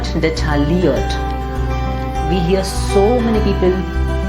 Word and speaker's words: detailliert: It's not detailliert at all. Rather, it's detailliert. Detailliert. Because that LL just becomes like a ear in French. Yeah, taille.